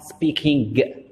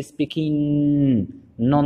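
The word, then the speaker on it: speaking: اوكي، ما تنطقوش الكا. اوكي، ما تقولوش اي ام نوت سبيكينغ. اوكي، هذا راه خطا، لان في الفونيتكس كتولي سبيكين نون طويله. اوكي، يعني ديال النيزل، كتسمى النيزل.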